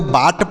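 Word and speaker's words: but: इसे लिखेंगे नहीं तो बी से ब और यू का उच्चारण अ के रूप में टी से ट तो इसे पढ़ेंगे क्या पढ़ेंगे बट पढ़ेंगे इसे ना तो बाट पढ़ेंगे ना तो बुट पढ़ेंगे इसे बट पढ़ेंगे और बट मतलब होता है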